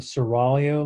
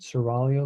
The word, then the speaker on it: Seraglio: The reading is called the Seraglio Letters. The G is silent. Seraglio Letters by a French writer named Montesquieu.